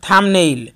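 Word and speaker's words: thumbnail: যেমন বোম এবং থাম্বনেইল দুটি শব্দের মধ্যে বি এর পরে কোনো ভয়েল ব্যবহৃত না হওয়ার কারণে বি এর উচ্চারণ হবে না।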